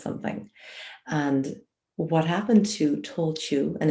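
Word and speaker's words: Tailtiu: and what happened to tolchu and it's spelled t i l her name is spelt t-i-l-i-t-l-u you know but it's a gaelic word so nothing is ever read like it's written um but she actually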